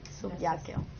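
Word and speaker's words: subicio: pasado de subakio y se escribe con c la c se pronuncia en latín como k subqueo y trabajo era el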